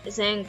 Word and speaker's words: Zhang: E falando do comandante, né, do Zhang, Zhang, na verdade, pronúncia é com A, mas a gente pronuncia com E.